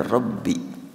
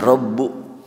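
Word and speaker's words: رَبِّ: Wa idz qala Ibrahimu, ingatlah ketika Ibrahim berdoa dengan mengatakan Rabbi. Kalimat Rabbi dibaca bi, tidak Rabbu.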